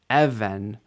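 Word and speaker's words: אבן: an article of clothing how about this word Evan initial stress EV Evan means a stone neged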